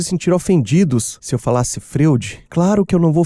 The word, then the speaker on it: Freud: Eu não sei dizer porque sentimos conforto em falar Freud, que tá mais perto da pronúncia do nome do pai da psicanálise em alemão, e talvez desconfortante falar Nietsishi.